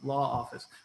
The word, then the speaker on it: LAA Office: But as Chris did such a good job in doing, we pronounce it LAA Office.